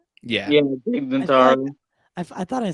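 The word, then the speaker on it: Tig Notaro: did I just say that right yeah yeah TIG Naro I thought I said it wrong she is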